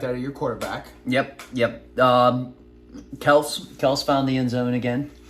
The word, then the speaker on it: Kelce: When I met Travis Kelce, he said Travis Kelce. He was Kelce at the time. Yes. Yeah. So he wasn't Kels.